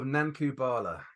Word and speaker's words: Nanku Bhala: the proposed title is uh the blood of nankubala okay so so Dave uh submitted a initial